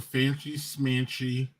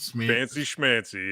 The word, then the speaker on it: fancy schmancy: He says some fancy smanchy. Is that how you say it? Fancy schmancy, yeah.